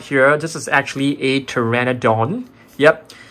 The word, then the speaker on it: Pteranodon: This is actually a Pteranodon. Yep. The name actually starts with P, but they don't pronounce the P, so that's pretty interesting.